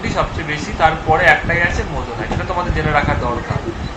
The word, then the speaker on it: moissanite: refractive index ডায়মন্ডের থেকে মোজনাইটেরই আছে ইট ইজ প্রোনাউন্সিয়েশন লাইক মোজনাইট তো এই কোশ্চেনের আনসার